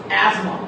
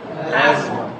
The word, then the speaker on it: asthma: We are Indians that we pronounce this word asthma, but the right pronunciation or enunciation of this word is asthma. What is that? Asthma.